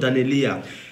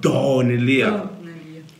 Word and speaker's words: Daneliya: So someone carried AK-47, some swords, a lot of equipment, and attacked us in the comment section that it's not Daneliya. It's pronounced Daneliya.